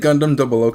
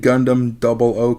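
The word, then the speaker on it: Gundam 00: Bixby good afternoon great hey Bixby when did Gundam O Come Out here's what I found online I said it wrong hey Bixby when did Gundam Double O come out here's what I found on the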